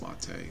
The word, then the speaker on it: MATE: developer ofun mate mate mate mate it is pronounced mate hello to Martin wimpress hello Martin I affectionally